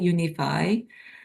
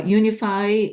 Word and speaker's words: UNFI: United Natural Foods uh we pronounce as UNFI UniFi uh UniFi uh serves various grocery